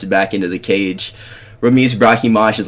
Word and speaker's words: Brahimi: Apparently, you don't say it Brahimage. It's Brahimi. So, my fault OG versus Billy Gooff, bro.